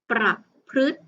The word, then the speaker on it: ประพฤติ: คำ ที่ 3 ค่ะ ตัว รึ ประสม กับ พยัญชนะ ที่ เป็น ตัว พบ พาน นะ คะ คำ นี้ จึง อ่าน ออก เสียง ว่า ปรับ พฤติ ประพฤติ ต่อ ไป นะ คะ